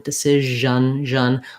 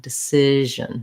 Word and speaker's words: decision: a syllabic n at the end so i might have a little bit of a schwa sound a little bit of an on decision but not much vowel there at all that's because this syllable